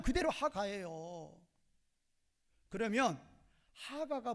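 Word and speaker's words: הגה: 어 기불이어 발음 그대로 하가예요.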